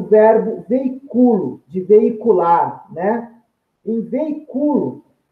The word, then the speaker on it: veiculo: Olha lá, a sílaba tônica é penúltima, é uma paroxítona não acentuada.